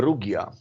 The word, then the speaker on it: Rugia: the recording of is how do you pronounce it is it regie or rudya it is actually a rugia okay it is because it's a it is actually an archaic slavic name for uh for today's german island of hugon uh